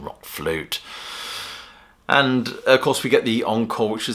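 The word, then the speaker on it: RökFlöte: couple of numbers from Rock flute or Rock flirter however you want to pronounce it I'll go for the English pronunciation Rock flute and of course we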